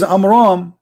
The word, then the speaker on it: Amram: Because Muhammad, he could not even pronounce it correctly. So the correct name is Amram.